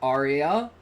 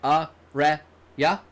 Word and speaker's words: Arya: It's not like Arya, but it's like Arya. Arya. Like Araya.